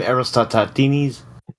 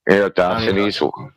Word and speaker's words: Eratosthenes: This comes from how do you say his name? Aristotlenes? Eratosthenes.